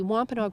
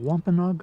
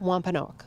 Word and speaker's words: Wampanoag: do you pronounce that Wampanoag Wampanoag yeah Wampanoag Wampanoag okay I've heard it's actually been pronounced in two different ways depending on which Community you are in whether it's a quinner